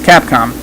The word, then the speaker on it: Capcom: cap calm that's right just to say it right it's Capcom to be exact it's